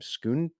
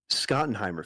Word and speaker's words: Schottenheimer: Schottenheimer. Schottenheimer.